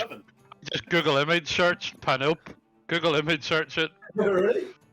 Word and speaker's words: Panope: I continue to feed Panope the good berries. If you Pano. called it Panope. Panope. Panope. Panope. Okay. Spell it.